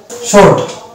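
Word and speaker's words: sword: শর্ট শর্ট এটার actual উচ্চারণ হচ্ছে শর্ট। এখানে W অনুচ্চারিত থাকছে, এই শব্দেও আমরা W কে দেখতে পাচ্ছি একটা সাইলেন্ট লেটার, কোনো উচ্চারণ আসছে না।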